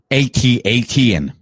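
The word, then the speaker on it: AT-AT: like you couldn't come it's pronounced atat but this would would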